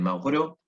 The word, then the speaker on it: Maurois: Proust, está traducido de Mauro, ¿sí? Maurois se escribe, Mauro, y que en busca